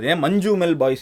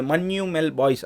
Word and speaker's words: Manjummel Boys: I know, if there's 'NJ' in a word it has to be pronounced 'Gna'.